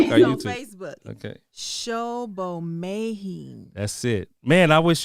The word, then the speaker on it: Sobomehin: So pronounce that last name for me. Please. Sobomehin.